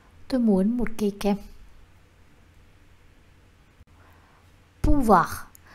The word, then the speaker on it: pouvoir: Pouvoir. Chúng ta sẽ không đọc là pouvoir mà sẽ là pouvoir.